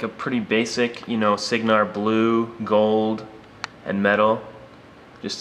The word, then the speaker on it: Cygnar: The proper pronunciation is Cygnar, but that's always just stuck with me, and